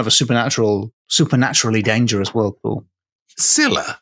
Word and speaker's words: Scylla: Scylla? Scylla, Scylla. Not like Scylla Black.